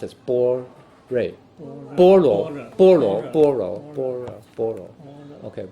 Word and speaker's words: 般若: In Chinese, it's pronounced as 般类. 般若. Okay, 般若.